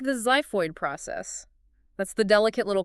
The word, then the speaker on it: xiphoid: You don't say exiphoid, the X operates as a Z, ZYPHOID.